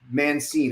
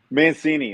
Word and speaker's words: Mancine: meet my friend Brandon mancin am I saying that correctly I feel like I've butchered your last name Mancini that's all right the